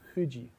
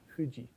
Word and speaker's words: Fuji: But in Japanese, that's not an F. It's a bilabial fricative. It's Fuji, Fuji. If you learn Japanese, you must learn to pronounce the F bilabially rather than labiodentally. So in English, we have a labiodental F with our lower lip against our teeth. In Japanese F, your teeth are not involved.